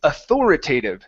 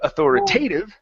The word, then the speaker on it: authoritative: word sound okay so the first word is authoritative so instead of authoritative putting the stress on T it's author